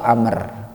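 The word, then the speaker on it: عمرو: Bin luhay Hai Jadi kalau Umar tulisannya ain't mim ro tapi kalau ada Wow di belakangnya main mim Rock wow maka dibacanya ambruk atau Amr ya walaupun tulisannya sama tapi di belakangnya ada Wow sedikit saja maka bacaannya adalah ambro ataupun Amr Hai Amr Bin luhay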